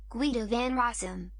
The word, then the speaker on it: Guido van Rossum: we're gonna pronounce hui the fun russo english pronunciation usa guido van rossum guido venerasm and uk pronunciation guido van rossum